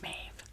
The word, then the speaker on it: mauve: This is mauve or mauve. I do believe it's pronounced mauve.